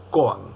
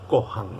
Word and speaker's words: koan: K o a n coan algunos lo pronuncian como cohan aspirando la a como si tuviese una H No yo digo cohan siempre he dicho cohan Qué es el cohan